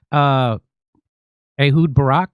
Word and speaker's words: Ehud Barak: They are blackmailing the former Israeli prime minister, Ehud Barak.